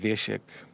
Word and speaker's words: Wiesiek: So Wiesiek, spelled with a W, pronounced with a V, and that's why people now call you V.